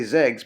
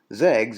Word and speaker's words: XEGS: off the tongue but i'm kind of pronouncing it similar to you know with the x how you might present something like xylophone zegs it stands for